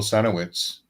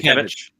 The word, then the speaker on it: Sienkiewicz: Yeah, and it wasn't too long after the New Mutants started that Bill Sinowitz, I don't know how his name is pronounced. Sienkiewicz.